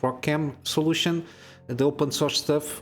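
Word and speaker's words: ROCm: is part of the rock M or I think it's called or pronounced Rock cam solution the open source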